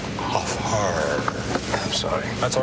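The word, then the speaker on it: Hfuhruhurr: Furrier, it's off hard. I'm sorry. That's all right. A lot of people mispronounce it, but it sounds just the way it's spelled.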